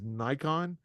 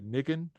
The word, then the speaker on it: Nikon: to say the company that botom which is Nikon they say nicken so the nicken company that that owns Mark